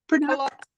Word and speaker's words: culottes: Culottes.